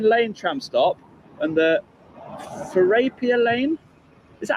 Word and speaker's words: Therapia Lane: I should be in between the Beddington Lane tram stop and the Therapia Lane. Is that how you say it? Therapia? This is Therapia Lane, yes.